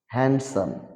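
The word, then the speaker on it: handsome: ইট D silent word হ্যান্ডসাম হ্যান্ডসাম ডি টা এখানে উচ্চারিত হবে না সুদর্শ বাজেট এখানে ডি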